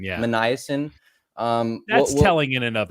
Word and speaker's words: Minasian: Minasian.